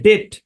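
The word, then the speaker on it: debt: শব্দ আর কি ডেট এই শব্দের উচ্চারণ হচ্ছে ডেট ডেট মানে হচ্ছে দেনা দেনা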